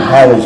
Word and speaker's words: Halley: She was born when Halley's Comet came through, and I researched it. It's Halley, that's how you pronounce it. H-A-L-L-E-Y.